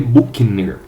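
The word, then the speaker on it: Büchner: se lembre se que se escreve buchner se lê bukner qual é essa é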